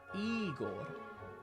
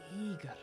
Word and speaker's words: Igor: but it turns out the stress is on the first syllable again eag now Russian has